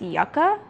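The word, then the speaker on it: yucca: And I have been saying yuka for years on this channel, but apparently it's yucka.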